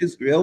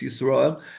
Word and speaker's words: Yisroel: It's pronounced in English Israel, but it's Yisroel.